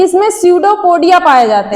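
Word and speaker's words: pseudopodia: सडोपोडिया की स्पेलिंग कोई बताएगा? [गला साफ़ करने की आवाज़] साइलेंट रहता है ना? इसी तरह एक सर थे। क्या ही बताएं। वह सूडो को पढ़ रहे थे पसीडो हां उसका कुछ [गला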